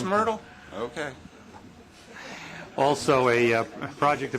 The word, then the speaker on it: Myrtle: line in the bronos isn't that pronounced mle it really is Myrtle okay also a project